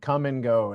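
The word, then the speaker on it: Kum & Go: in uh in Iowa called come and go and it's spelled k m I got a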